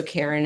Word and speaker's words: Kerin: Karen as a homage to my dad. My dad is no longer with us, but he's one of the reasons why I am a physician. So Karen is my maiden name.